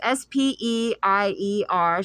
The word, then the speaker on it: Speier: The representatives were Lois Frankel from Florida, Veronica Escobar from Texas, Jackie Speier. I could be pronouncing that wrong. It's Speier.